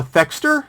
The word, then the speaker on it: Thexder: let's find him play it and then uh fexter is that the right way to pronounce it yes so the friend of his